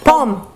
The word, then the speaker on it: pomme: Pomme.